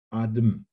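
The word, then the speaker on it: אדם: Und für mich ist ganz beeindruckend der Name Adam, der im Hebräischen mit einem zweiten stummen A geschrieben wird, also ADM, Adem. Mhm. Wird aber trotzdem Adam ausgesprochen.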